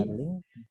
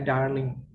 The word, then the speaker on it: darling: darling, Mister? Pembacaan yang benar. Darling. Jadi langsung sama seperti penulisannya ya, darling. Tapi biasanya R-nya kan kalau bahasa Inggris itu agak diputar ya lidahnya, darling gitu ya.